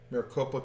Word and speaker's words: Maricopa: Patriots are protesting in front of is it Maricopa is that how you say it yes Maricopa County in in uh Arizona that's where Joe